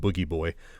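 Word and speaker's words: Booji Boy: is animated to look like a character called Boogie Boy, spelled Bougie Boy, but they pronounce it Boogie Boy, which is one of the characters that would appear in Devo videos and sometimes that's awesome.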